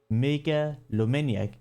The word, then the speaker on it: Megalomaniac: How do I pronounce that? Megalomaniac. That's the name.